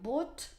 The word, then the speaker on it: bought: So the orange color, it is this GHT, yeah, this very interesting letter combinations which are actually not pronounced, because we say bring, brought, brought, buy, bought, bought, fight, fought, fought,